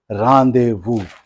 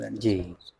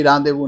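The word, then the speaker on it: rendezvous: और जो कि हम लोग जो इंडियन इंग्लिश वाले हैं वो उसी को प्रोनाउंस करते हैं रेंडेजोवस। कभी भी रांदेवू नहीं बोलेंगे, रेंडेजोवस बोलेंगे, क्योंकि वहां पर जो एक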